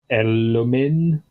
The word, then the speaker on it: Elomin: Anyway, point being, Bane, I would recommend shooting the Elomin, That is roughly how you pronounce that, yeah.